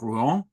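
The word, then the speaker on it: Rouen: um the city of Ru um which has something like a b syllable in in English is uh always spelled as a monosyllable in Shakespeare r o an like the horse Color um and it that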